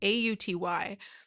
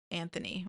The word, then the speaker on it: Auty: It's Auty. People sometimes pronounce it Anthony or Antony, maybe.